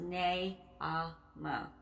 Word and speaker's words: Naamah: And that is spelled Naamah. It's pronounced Naamah.